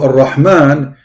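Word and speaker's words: الرحمن: So Ar-Rahman, the letter Ra, it is two R, not one.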